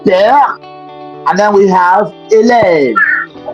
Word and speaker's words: père: there, in letter C we just spell it P-E-R-E. But that's not it. The E is moving from left to right. So we have what we call l'accent grave. We have père, and then we have élève.